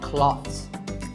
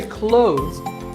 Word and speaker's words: clothes: But what's silent here? Well, first of all, this word is not cloths. When we say clothes, the TH in the middle can often be silent.